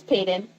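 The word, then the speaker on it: Paedyn: So her name's Payeyton. Payeyton Grave. It's spelled P A E D Y N.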